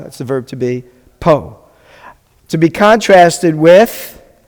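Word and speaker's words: פה: How do you pronounce it? Po.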